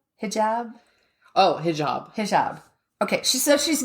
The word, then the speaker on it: hijab: head scarf or a he job am I pronouncing that correctly do you even know a what job hijab hijab oh hijab hijab okay she so she's not she just